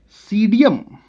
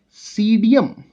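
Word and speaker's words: Psidium: It is Pseudium. P is silent here. So that is Pseudium guajava.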